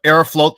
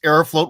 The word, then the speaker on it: Aeroflot: they keep it up I thought it's aeroflot uh dude it's it it's it depends on your pronunciation but I think that Arrow float sounds nicer okay but it is written f-l-o-t in Russian yeah okay uh so